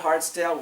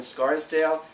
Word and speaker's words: Scarsdale: the Twisted bit saddle Saddlery is that I pronounce it in Scarsdale not sorry not hardsdale we're in Scarsdale on Central Avenue near where I grew up